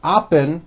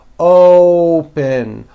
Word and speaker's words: open: to say this word you're not saying oppos with an a you're using that hidden W you're bringing your lips forward and you're saying open open like that so let's practice some